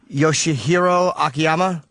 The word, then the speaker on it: Yoshihiro Akiyama: Eddie Wineland, and I never know how to say this guy's name. Yoshihiro Akiyama? That's right. Oh, I actually got it right.